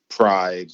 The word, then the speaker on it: Pride: Is it Pry or Pride? Pride. Did I say Pry? I meant Pride. My bad, guys. It looks like Pride to me.